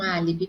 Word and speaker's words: álibi: Então, a minha sílaba mais forte de álibi é a letra A. E é uma proparoxítona, por isso que ela é acentuada, terceira sílaba mais forte.